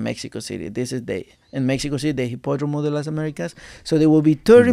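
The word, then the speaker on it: Hipódromo de las Américas: Hipódromo? De las Americas.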